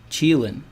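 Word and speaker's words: Qilin: Dred Scott says it's pronounced Cheelin. Thank you.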